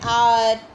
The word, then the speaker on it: hour: We use an when the consonant H is silent. Means H is totally mute. And that time we can use an. For example, an hour, an honor, an honest, etc.